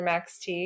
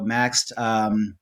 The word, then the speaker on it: Maxed: whether it's Maxed or Max T. We're hoping you could set us You just straight. said Maxed though. You did. Yeah. So Maxed, that is the proper way to say it.